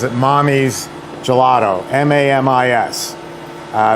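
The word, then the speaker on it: Mamis: um she pronounces it mommy's gelato m-a-m-i-s uh that's Italian m-a-m-i-s is Italian for Mommy and Naomi Posner is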